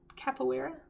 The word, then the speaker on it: capoeira: Capoeira?